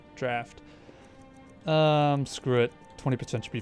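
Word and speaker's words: Draught: Drought. God, I already forget. Draft. That's what somebody told me. How is it pronounced? Draft.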